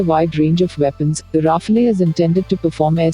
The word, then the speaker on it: Rafale: The Dassault Rafale, French pronunciation Rafale, literally meaning gust of wind and burst of